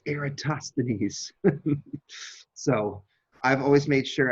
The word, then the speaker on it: Eratosthenes: copy that you know I used to pronounce this eratos stenis um and one year I had a student who had who had studied Latin in the Boston Latin School and she took me aside after class one day and she went it's aatosan so I've always made